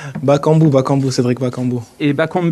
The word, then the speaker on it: Bakambu: dans notre chaîne 10 mt bien faux la prononciation votre nom je suis journaliste aux radios ont dit bakambu ou bac en but bakambu bakambu cédric bakambu et bacon but ça vous